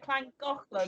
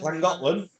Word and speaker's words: Llangollen: It's pronounced clan. Yeah. So I went to I can't say it. Llangollen. Llangollen.